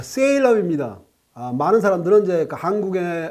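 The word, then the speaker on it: Salem: 온 오리건 주에 수도는 셀렘 이 아니고 세일러 입니다 3 1 억 3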